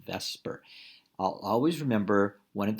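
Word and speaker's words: VSEPR: a molecule we use what's called the vesper model that's how we pronounce it vesper i'll always remember one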